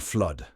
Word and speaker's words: flood: and Spore next is a short vow sound that rhymes with mud and thud there are only two words for you to remember here they are blood and flood finally we have a